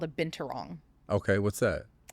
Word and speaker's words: Binturong: And How do you pronounce it again? Binturong Binturong?